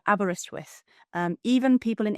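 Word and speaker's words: Aberystwyth: um to to pronounce it you would say abber abber like abber wrist like your wrist and with as in with you're here with us um so abberristw with um even people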